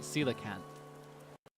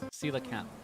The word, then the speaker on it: coelacanth: I guess I had the TH wrong. I was pronouncing it coelacanth. But I think it's coelacanth. Coelacanth.